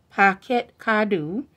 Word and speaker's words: Parquet Cadeau: art packets could do pronounced pocket kadu California semi-seco sparkling wine